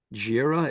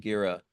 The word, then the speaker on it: Girih: Gira, is that how you pronounce it? I think they pronounce it Gira.